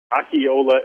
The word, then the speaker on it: Akinola: Akinola Ogunbi. The N in the first name is silent, and then it really just sounds like Ogunbi.